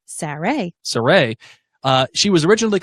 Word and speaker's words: Sarai: Sarai. Sarai.